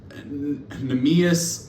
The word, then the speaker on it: Neemias: And then Neemias, I think is how you say it, Queta.